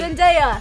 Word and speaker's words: Zendaya: Zendaya. Saturday. No. Zen. Zal. Zen. Zanda. I'm so confused. Zen. Zen. Zen. Day. Daya. Exactly. Zendaya.